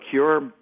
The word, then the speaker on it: CÜR: does and I want to get the proper pronunciation for it C media yes it's uh it's cure media thank you uh so C the U